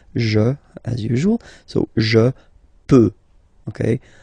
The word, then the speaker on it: peux: So je peux. Okay, final X not pronounced here. Okay, so you get X, but you don't pronounce it. So basically, you get the sound peut.